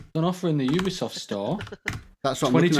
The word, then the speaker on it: Ubisoft: An offer in the Ubisoft store.